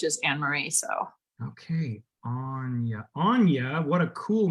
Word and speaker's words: Aine: I'm assuming that we pronounce it Annie. I'm going to ask you to unmute. How are you? It's Anya, but Anya.